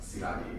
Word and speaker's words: Szilagyi: It's pronounced Szilagyi. It's a Hungarian surname.